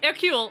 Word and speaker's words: Hercule: His full name is Hercule Flambeau. Fuck off. I'm not kidding, and I'm sorry. I think I know What's the how to best spell Hercule. Oh, Hercule. No, Hercule. It's French.